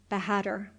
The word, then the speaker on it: bahadur: pronounced exactly in English it sounded something like this with the accent on the last syllable bahadur and the a sounded like a in hark this was as near